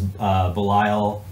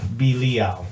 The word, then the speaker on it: Belial: Oh, Axis of Entropy says the pronounced in Hebrew is Belial. Did he just spell it? he spelled out the pronunciation. Belial.